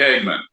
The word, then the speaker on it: Hageman: But Representative, am I saying it right, Hageman? Yeah, Harriet Hageman.